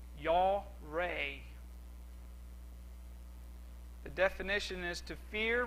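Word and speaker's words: yare: i butcher this pronunciation the spelling is y a r e and it's pronounced yaw ray the definition is to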